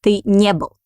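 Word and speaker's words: не был: next on itself so we pronounce it like one word the nibble the nibble so will is unstressed and stress falls on near the nibble okay but feminine form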